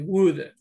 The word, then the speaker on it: would: La O y la L es muda. Entonces, de esta palabra, de wood, por eso suena como madera, wood.